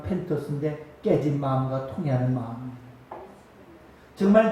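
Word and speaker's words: πένθος: 헬라어로 눈물은 발음하면 펜토스인데 깨진 마음과 통해하는 마음입니다.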